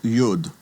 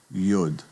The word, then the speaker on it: yud: The next letter is called yud. And yud is that smallest of all Hebrew letters that looking at looking at it written between the margins, it's kind of suspended out in midair. and yud. That small letter gets the Y sound. Y as in yellow.